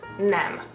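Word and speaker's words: nem: want to say no in Hungarian is is nam so you can say Egan and Nam now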